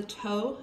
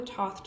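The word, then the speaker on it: Thoth: a moment this is the tow Tarot or the Toth Tarot I've heard it pronounced both ways I go with tow I have used this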